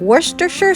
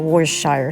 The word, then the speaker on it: Worcestershire: tablespoons of olive oil and 2 tablespoons of Worcestershire sauce which is the correct pronunciation did you know the sauce was actually